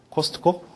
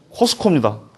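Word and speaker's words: Costco: 더 좋아하다는 어디 갔어 뭐라고 읽어요 많이 가시죠 코스트코 코스트코 어 아닙니다 코스코 코스코 코스코 아 사람 자꾸 코스트코 코스트코 그래가지고 그냥 정정해 주느라고 그니까 그나라 말 갖다 쓰려면 그 사람들이 하는 대로 갖다 써라 그 얘기죠 마음대로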